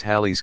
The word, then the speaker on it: Halley: a telescope the famous Halley's Comet pronounced Halle also called comet Halley